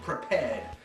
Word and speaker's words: Prepar3D: Lockheed took over the license for developing this, and they have something called Prepared, which is spelled P-R-E-P-A-R-3-D, of all things.